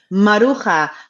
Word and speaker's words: Maruja: it's a Spanish name, and you would pronounce Maruja. it Maruja, Maruja.